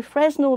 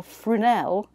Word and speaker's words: Fresnel: So a Fresnel lantern, pronounced Fresnel or Frunel, is a common lantern